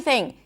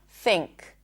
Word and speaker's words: think: For example, think. Think. You wouldn't think about it, but the N that you're pronouncing is actually an NG sound. Think. It's not thin. thin, but think.